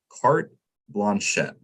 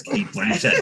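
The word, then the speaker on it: Cate Blanchett: That is, what is carte blanchette? I know it's Kate Blanchett.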